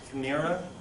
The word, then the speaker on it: chimera: Also, when God gives out the soul to people, this first word, it's pronounced chimera.